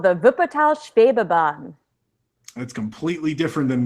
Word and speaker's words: Wuppertal: How is it pronounced? Wuppertal.